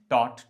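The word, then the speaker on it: taught: And teach टॉट टॉट। तो यहां पे ध्यान रखिएगा। टीच टॉट टॉट टॉर्च बोलना शुरू कर देते हैं बहुत सारे लोग। तो टॉर्च नहीं है। टॉट teach टॉट टॉट।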